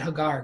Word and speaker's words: Hagar: treats Hagar and and I've been pronouncing it Hagar because her name means the Foreigner gar means stranger Foreigner resident alien that kind of thing and ha means thought so Hagar means the Foreigner that's her name the Foreigner very nice and she's Egyptians that's why I'm pronouncing it that way that's a little bit